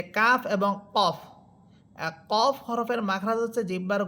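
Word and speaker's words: ك: আর calf এটা জিহ্বার গোড়া থেকে একটু উপরের দিকে এসে উপরের তালুর সাথে লাগবে।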